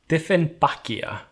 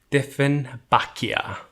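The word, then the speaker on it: Dieffenbachia: icelandic name for it we just pronounce the english slash german name with an icelandic accent different bakia and since i'm terrible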